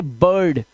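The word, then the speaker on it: bird: जब किसी वर्ड में आई के बाद आर आ जाए तो आई का उच्चारण इसने क्या कर दिया? देखो अ कर दिया। जैसे ये इसे बिल्ड नहीं पढ़ेंगे। इसे पढ़ेंगे बर्ड, shirt, chip, firm, dirty.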